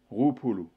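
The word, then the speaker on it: roapolo: Ainsi, pour dire 20, en malgache, on dit Roupolu. Donc ça s'écrit R-O-A-P-O-L-O.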